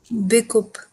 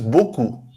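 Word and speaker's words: beaucoup: Because the e a u, this pattern, this kind of this combination of letters is pronounced as o, like English o, okay?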